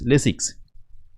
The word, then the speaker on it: Lasix: in the end right basics and lasik a huge k sound at the end this is lasix that k sound is almost absent nice and with an